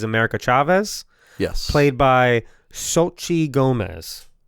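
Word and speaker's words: Xochitl Gomez: Chavez yes played by Sochi Gomez that's how you say it so Chi Gomez yeah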